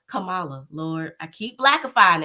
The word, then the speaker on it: Kamala: we're gonna go back to Kamala and how Camala Lord I keep black aying it you said